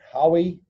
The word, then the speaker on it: Huawei: There's a whole heap of crazy news around, well, it depends on how you pronounce it, Huawei.